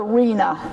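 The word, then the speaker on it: RHNA: Rena is the way it's pronounced to us people who are insiders.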